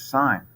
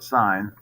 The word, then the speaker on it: sine: Sine, that's actually how you spell sine. But when you do the setup, you just put S-I-N. So it's actually pronounced sine, not sin.